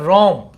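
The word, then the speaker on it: WORM: इसको बोला जाता है रोम डब्लू साइलेंट रहेगा रम रम वैसे व है लेकिन व साइलेंट रोम मतलब राइट वंस रीड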